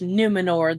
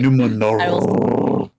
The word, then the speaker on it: Numor: You didn't say it right. Sorry. Numor. We have to roll one more R every single time he's he's mentioned.